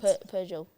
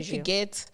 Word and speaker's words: Peugeot: Peugeot. Peugeot. Is that how you say it? I would have said Piguet.